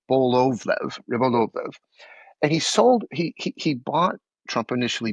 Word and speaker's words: Rybolovlev: In 2008, he sold a 6-acre Palm Beach piece of real estate to a Russian billionaire, Dmitry Rybolovlev. I got the name wrong, Rybolovlev.